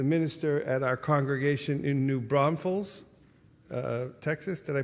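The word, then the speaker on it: New Braunfels: aday is the minister at our congregation in new Bron Falls uh Texas did I pronounce that right yes in new Bron Falls Texas um and she has lit our calendar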